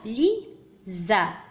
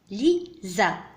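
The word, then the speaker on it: Lisa: donc الحرف S ينطق ز في الكلمة ليزا.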